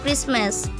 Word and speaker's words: Christmas: Notice: t is silent in Castle Christmas.